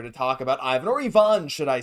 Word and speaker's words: Ivan: But everyone's here to talk about Ivan or Ivonne, should I say. They're calling him I Yvon on the broadcast. Obviously, it's how you say it in Russian. Maybe we'll start saying Ivon Ivan.